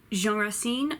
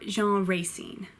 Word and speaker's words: Racine: Moliere Jacque I seen Jean ha ha seen Jean Racine or Jean Racine Piaf corny P a girl named Pierre Corneille